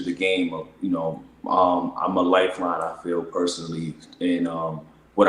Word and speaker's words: LYFELIN: sounds like LYFELIN, but the real pronunciation is Lifeline. It's just abbreviation.